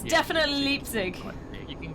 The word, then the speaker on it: Leipzig: Wait, what did we not pronounce? Oh! Like, instead. Leipzig! It's Yeah, definitely Leipzig.